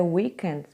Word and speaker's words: weekend: A stressed syllable, ou seja, a sílaba tônica aí é a primeira.